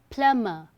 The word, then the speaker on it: plumber: Okay, the correct pronunciation is plumber, not plumber. B is silent here.